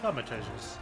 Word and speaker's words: Thaumaturges: Oh, that's how you pronounce it. Thaumaturges.